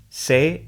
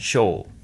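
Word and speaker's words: 生: It has two onyomi readings, sei and shou.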